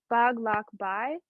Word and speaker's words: paglakbay: And the A's are kind of covered, and the last word, I know it can be a little tricky, so it's pronounced as paglakbay, and we can sing as paglakbay.